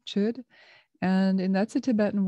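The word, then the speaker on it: chöd: practice stems from uh chud which is spelled c-h-o with an umlaut d chud and and that's a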